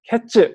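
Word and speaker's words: קֵץ: 이 끝이라는 단어는 여기 하, 캐츠 이렇게 되어 있는데 이 하는 정관사거든요. 그 끝. 그래서 이 단어만 보자면 카이츠 그리고 캐츠 이렇게 비슷한 단어를 통해서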